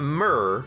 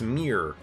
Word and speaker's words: Myr: It's not Myr, like Murloc, it's Myr. I think that's how it's pronounced, M-Y-R.